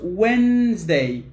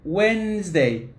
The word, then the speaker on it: Wednesday: word the first one the first one is pronounced wednesday wednesday monday tuesday wednesday thursday friday saturday and sunday